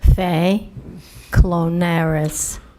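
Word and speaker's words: Fay Klonaris: Fay Clonire. You want me to spell it?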